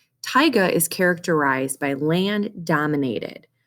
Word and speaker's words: taiga: also known as tyga looks like tega it's pronounced taiga taiga is characterized by land dominated by large conifers